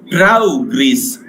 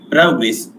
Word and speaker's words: progress: to say like this, progress. Progress. And when I use this word as a verb, I pronounce this as progress. Progress. So the stress changes according to the use of the word.